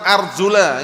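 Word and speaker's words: أرجلَكم: dengan jar arjulikum lah kalau dibaca arjulikum jelas maknanya rusap gitu loh tapi itu bacaan yang keliru loh ya bacaan yang keliru yang tepat arjula ingat-ingat yang belajar bahasa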